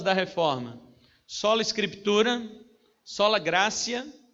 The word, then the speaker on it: gratia: reforma sola scriptura sola gratia é com p mas fala cê tá porque o latim uti é esse que pronuncia sola scriptura sola gratia sola